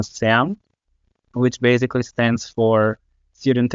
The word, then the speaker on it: SEAM: our local IFES movement, which is called CEAM, or in our pronunciation, SAM, which basically stands for Student Evangelical Association in Macedonia.